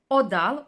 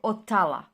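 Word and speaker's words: Othala: it well it is a run odal OA or otala so we have several names for this beautiful Rune it can be pronounced in several ways uh in any way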